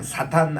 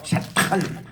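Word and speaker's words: שטן: 그리고 사탄 할 때도 요거 강한 T입니다. 그래서 그냥 사탄 아니고 샤탄 이러고 나카시 이렇게 따라합시다.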